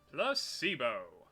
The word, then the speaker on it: placebo: today repeat after me placebo the stress is on the middle syllable splendid so charming how